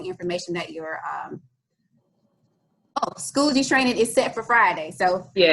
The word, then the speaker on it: Schoology: platform will be schoology right yes that's correct pronouncing that the right way correct it's schoology i was calling it schoolology but i still hear people saying that it's